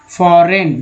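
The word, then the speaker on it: foreign: फॉरेन, जिसमें G silent है।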